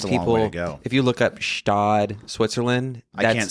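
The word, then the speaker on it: Gstaad: if you look up stodd Switzerland I didn't spell anything in Switzerland it's G oh it's oh you have it you know it the G silent Scott is g-s-t-a-a-d it's spelled insane so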